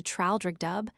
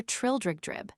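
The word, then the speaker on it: Traldragdubh: It contained a warrant for conducting me and my retinue to Traldrigdub, or Trildrigdrib, for it is pronounced both ways as near as I can remember, by a party of 10 horse.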